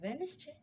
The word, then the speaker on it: Wednesday: Rule number 2, D is not pronounced in the following common words. Wednesday, handsome, handkerchief, sandwich. So D is silent in these words. We cannot pronounce T like Wednesday, handsome, handkerchief, sandwich.